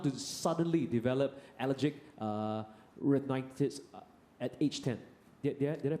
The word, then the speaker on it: rhinitis: Chen, is it common for a child to suddenly develop allergic uh renitis at age 10? Did I pronounce it right? Yes sir. Right. Allergic rhinitis.